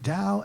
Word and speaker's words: Tao: Dao itself which is spelled t-a-o but pronounced Dao means the way and